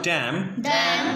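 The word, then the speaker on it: damn: रहा होगा कि आपको एन लिखा हुआ है लेकिन एन पढ़ा नहीं जाएगा because N इज a silent. N क्या है यहाँ पे? साइलेंट है। तो साइलेंट वर्ड होने की बुनियाद पर यहाँ पे हम एन को नहीं पढ़ेंगे।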